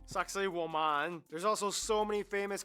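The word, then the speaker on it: Sacsayhuamán: fascinating sites this one you're kind of supposed to pronounce it like sexy woman sexy Wan there's also so many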